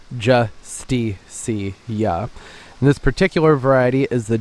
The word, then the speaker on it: Justicia: oh I have a habit of calling it in too sticky oh I think it's more fun to say